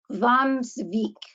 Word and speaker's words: Hvammsvík: It's another very difficult name to pronounce, and I did learn how to pronounce this one. It's called Hvammsvík Hot Springs.